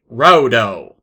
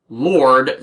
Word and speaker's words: Raudo: And I'm going with that pronunciation, as it doesn't make sense for the name to be romanized as Lord, since Raudo apparently translates, thanks to the kanji, as Wolf's Rage.